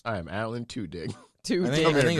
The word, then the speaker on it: Tudyk: I think Alan Tudyk is the new guy.